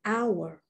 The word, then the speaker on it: hour: In English, you have to worry about the H because sometimes you pronounce it as in happy, Harry, and other times you don't, as in hour, H-O-U-R.